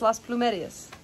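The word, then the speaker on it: Las Plumerías: at lost Blue Mary's but in Spanish it's Las plumerias all right so we're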